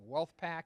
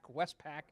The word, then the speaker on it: Westpac: presentation is by Westpac I always get your name wrong wolfpack Westpac Westpac Travis Scribner's here and of course Travis